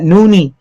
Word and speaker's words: Noni: And that noonie is spelled Noni, noonie juice.